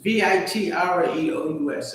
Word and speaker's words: vitreous: I said vitreous and vitreous. It's vitreous.